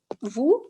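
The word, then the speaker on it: vous: just like uh nu we don't pronounce the s in um vu so it is now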